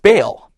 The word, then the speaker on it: Baal: the Canaanite fertility God B all which you may have heard pronounced baale talk about a holy